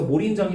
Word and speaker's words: 몰인정: 밑에 있는 리을 받침이 뒤로 넘어가는 연음 현상이 나타난 거야. 그래서 몰린정이 된 거고.